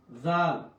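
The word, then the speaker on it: ذ: দাল দাল দাল দাল জাল জাল জাল দাল জাল জাল এই জাল জিবটা আগা থেকে আসবে জাল জাল জাল জাল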